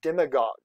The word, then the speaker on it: demagogue: a good vocab term for you as a demagogue is how you say that sounds like a